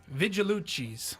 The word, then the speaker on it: Vigilucci's: Vigilucci's. Is that right? Yeah, nailed it. I always pull like a Vigilucci's. Vigilucci's. Vigilucci. Hey, how you doing? How you doing? Vigilucci's.